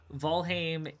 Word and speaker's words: Valheim: I know I'm pronouncing valheim volim is closer to the Old Norse pronunciation I'm a Linguistics not